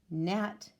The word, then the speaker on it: gnat: the silent K, right with the silent W, gnat with the silent G, thumb with the silent